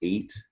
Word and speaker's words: eight: it a lot number eight it's a really hard word to spell and read that e is making a long a and the gh is silent and then whey you